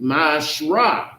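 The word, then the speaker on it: מעשר: Means 10th in the Hebrew, and it's pronounced Ma'ashrah.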